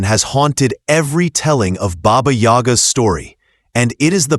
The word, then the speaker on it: Baba Yaga: For those outside these traditions, the pronunciation can feel strange. Baba Yaga. Simple, sharp, memorable.